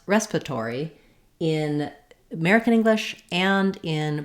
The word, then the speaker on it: respiratory: dictionary respiratory respiratory and it is correct to say it this way respiratory with all of the syllables but you will also hear native speakers reduce it to respiratory down to four syllables from five this is typical in